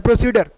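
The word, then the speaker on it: procedure: भाई और इसको देखिए प्रोसीड और बोलते हैं प्रोसीजर तो दी नहीं बोलना है अड्डा नहीं पढ़ना है इसको प्रोसीजर बोलना है क्या बोलना है मेरे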